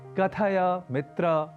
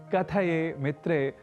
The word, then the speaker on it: कथय मित्र: ऐसे ही कथय मित्र को कथये मित्रे नहीं कहना है, अपितु कथय मित्र यह ही शुद्ध रूप से कहना है, यह ध्यान रखें।